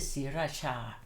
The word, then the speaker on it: Sriraja: And you still pronounce it Sriracha.